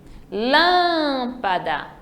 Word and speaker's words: lâmpada: Lâmpada vai ser o lã. Então, o peão, veja que a última sílaba é a forte, então ela é uma oxítona.